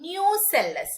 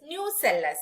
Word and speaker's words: nucellus: They will differentiate from one of the cell called nucellus, not nucleus, nucellus. It's spelled it as Nucellus, nucellus.